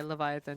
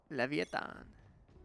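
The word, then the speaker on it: Leviatán: excuse me yeah do did learn to pronouncing VI VCT so I always instinctually say Leviathan just cuz it makes sense to my brain Levon 7 seven half here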